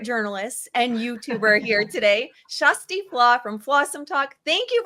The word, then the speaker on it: Kjersti Flaa: I have your favorite journalist and YouTuber here today, Shusty Flaw from Flossom Talk.